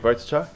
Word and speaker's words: Wojtczak: So my name is Wojtczak. It's pronounced just the way it's spelt, nice and easy.